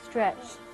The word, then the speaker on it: stretched: What's the difference there? Tiptoed. Stretched. This is a D and this is a T. A very interesting aspect of English pronunciation in the past tense.